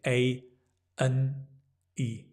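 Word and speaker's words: A&E: E A and E instead of saying A and E we say a n e a KNE like knee your knee a a ward go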